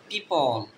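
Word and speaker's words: people: পিপল, এখানে এই ও এর উচ্চারণটা হবে না, কারণ পাশাপাশি দুইটা ভাওয়েল আছে। PEO উচ্চারণ হবে পি, এই পি এর উচ্চারণ প এর মতো, এ এল এর উচ্চারণ ল এর মতো, এটা হবে পিপল।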